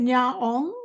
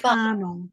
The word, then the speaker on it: Karnong: Is it do you say it Nyaong? Is that how you say it? Nyaong? Oh no. So I'm working on a TV series at the moment called Karnong's Wild Food. Oh, Karnong.